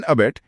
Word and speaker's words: abut: ई इन अबेट, ई for encouraging crime. बढ़िया। अब तीसरा शब्द है अबट, ABUT। इसका उच्चारण थोड़ा अलग है, अबट। हाँ, यू की वजह से आवाज बदल गई।